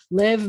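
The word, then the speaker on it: לב: Lev means heart. It sounds like love.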